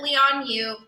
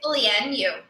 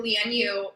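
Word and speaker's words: Lian Yu: me amy um it is they call it leon you micah you're not going to believe this that's not the correct way to pronounce it oh my gosh it's lien you so land u is supposed to mean um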